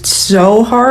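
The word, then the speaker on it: tzohar: So, the Hebrew word for roof that's not roof is so hard, I think is how you say it. It's t z o h a r.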